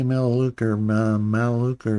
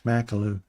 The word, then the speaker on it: Makulu: I want to say Maluka or something like that, but it's Makulu. Makulu.